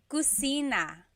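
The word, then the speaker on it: kusina: So, in Tagalog, there is no letter C. Okay. So, in Spanish, if it's spelled with a C, usually in Tagalog, it's spelled with a K because there's no letter C naturally found in the Tagalog alphabet.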